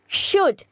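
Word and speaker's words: should: উচিত এই যে উচিত এখানে কিন্তু একটা এল আছে বাট আমরা এখানে প্রোনাউন্স করছি কি শুড তার মানে এখানে কিন্তু এলটা সাইলেন্ট হয়ে যাচ্ছে ওয়েল নেক্সট ওয়ার্ড ওকে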